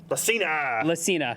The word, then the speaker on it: Lacina: Lacna? I don't know. How do you not know his name? He's a vibe guy. You tell me. How do you say that? Lacina.